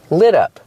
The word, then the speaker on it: lit up: In the past, lit up. In the description, the adjective is lit up. We hear the pronunciation of the T in lit up, it sounds like a fast D.